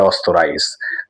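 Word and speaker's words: Österreich: অস্ট্রিয়াকে অস্তরাইস বলে, জার্মানির পাশের দেশ অস্ট্রিয়া, কিন্তু ওরা বলে অস্তরাইস।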